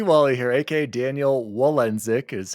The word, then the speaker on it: Walendzik: oh hello Daddy D Wally here AKA Daniel wenck is how you pronounce the last name yes I am Polish